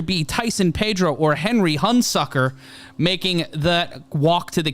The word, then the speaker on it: Hunsucker: It's spelled Hun, as in Attila the, and Sucker.